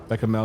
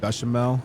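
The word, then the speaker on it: béchamel: Beckamel is pronounced Bashamel.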